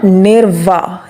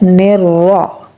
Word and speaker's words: الرجيم: Well, Sana, this is not nirva. There is no wow. We will pronounce it as nirra.